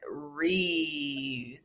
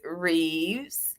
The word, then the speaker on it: wreaths: say y'all I'm country how do you say it wreaths yeah with an s okay because I'm saying Reeves and reefs and you know spell it that way too no no yeah I'm